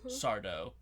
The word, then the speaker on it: Sardo: the actor who played Mr. Sardo or Sardo, no Mr. accent on the dough, very important.